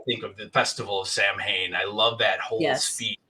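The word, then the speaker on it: Samhain: have chimed in on this because Lumis says pronounces the word is Sam ha which sounds really cool but I guess the correct pronunciation is suan yeah even though it's spelled and so a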